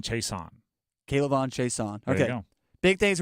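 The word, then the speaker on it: Chaisson: pronunciation of his name think about it like he's chasing the quarterback K Leon Chason cbon chaon okay big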